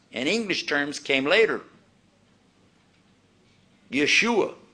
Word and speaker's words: Yeshua: Yeshua is how they would have pronounced it, or a form of that.